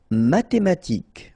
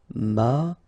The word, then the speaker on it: mathématiques: Mathématiques, remember, H doesn't exist, so mathématiques, remember, Q-U-E at the end, K, mathématiques. Médical.